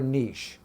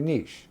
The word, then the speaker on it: niche: a niche or a niche now depending on where you're watching this it's pronounced different okay niche niche people pronounce it